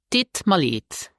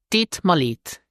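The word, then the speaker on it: deet mir leed: So when spoken, het is not pronounced, and instead of mir, native speakers say ma, and thus it will sound like this. Dit me leid.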